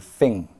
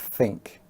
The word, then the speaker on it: think: Well, they sometimes drop the K sound. So they will say dring and thing instead of drink and think.